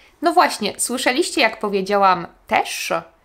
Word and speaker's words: też: No właśnie, słyszeliście jak powiedziałam też? Powiedziałam to tak, jakby też pisało się przez szy, a nie ży. Piszemy też, ży, a słyszymy szy, też.